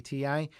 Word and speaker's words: Ti: a recent news video i referred to the ti cards as the tie cards as i learned that's actually how nvidia pronounces their names but it seems to not be the preferred way to say the name so i'll revert to calling it the ti from now on just